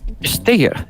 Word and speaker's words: Stäger: José roca qué tal Cómo se pronuncia tu apellido y origen de origen del apellido steeger es suizo suizo pero de la